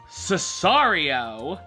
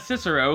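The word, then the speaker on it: Sicario: Next week, I will be back with my reviews of The Martian, Cesario. I think that's how you say it. I know it's not Cicero, because Benicio del Toro said so on television.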